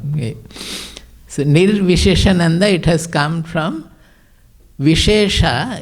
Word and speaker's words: Nirviseshananda: They pronounce in various peculiar way, errors, wrong way. So Nirviseshananda, it has come from Vishesha in Sanskrit means speciality.